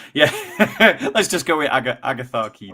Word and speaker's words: Agatharchides: The CH is a K sound. CH is a K, so that would be Agatharchides. Iatharchides. Oh, yeah. Let's just go with Agatharchides.